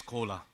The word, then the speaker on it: Kola: Just on the stage another collaboration is coming because my name is Kola everybody can understand this is exactly same pronunciation of Coca-Cola.